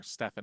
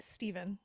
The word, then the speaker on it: Stephen: the directorial debut of Stephen Herrick or Stephan herck however you pronounce it is it a pH yeah some people or a anen oh dear oh it's Steven yeah okay Steven har um